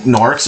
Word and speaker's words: Gnorc: I think Gnorcs are supposed to be like a joke on Orc, but with a silent G, because the guy Bob